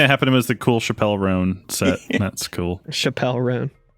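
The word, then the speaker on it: Chappell Roan: The only thing that happened was the cool Chappelle Roan set. That's cool. Chappelle Roan. How do you say it? Someone might correct you, Alex. I'm not trying to actually you, but it is Chapel Roan.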